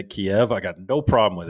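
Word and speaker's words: Kyiv: a year ago and everyone on the news is saying kiev kiev the way you'd say it in in in russian and then they pulled a little uh i know this was this is an information operation uh everyone now is pronouncing keeve like k-e-e-v kiev i'm like what the hell like well that's how the ukrainians pronounce it well yeah yes and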